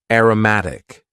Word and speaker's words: aromatic: Next, we had an adjective, aromatic. Aromatic. And please focus on the pronunciation here. Aroma as a noun. Aromatic.